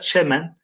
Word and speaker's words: çemen: okuyalım çimenlerde oynaş arak Biz Çimen diyoruz fakat orijinal arkadaşlar Çemen Eee eski şiirlerde çimenden ziyade Çemen telaffuzu daha yaygın fakat biz şu an